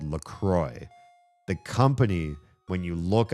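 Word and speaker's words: LaCroix: write on the can, they say it's pronounced LCROY, but they spell it like the French words L. The cross. The cross.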